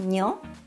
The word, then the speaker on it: にょ: Then we have にょ. Do you like Italian food? The Japanese にょ sounds a bit like にょ in gnocchi, doesn't it?